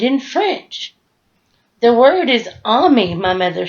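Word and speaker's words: ami: French the word is on me my mother says you say it just like this ah me I love French everything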